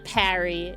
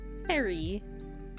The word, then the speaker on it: Perry: No, not Parry. His name is Perry.